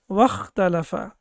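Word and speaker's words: وَاخْتَلَفَ: But when we have waw before it with fatha, then it becomes wakhtalafa. Then as we know that this hamza will not be pronounced.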